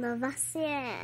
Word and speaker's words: Lavoisier: That guy has a fancy name, but I think I need to pronounce it like this. It's French. Anton Lavoisier.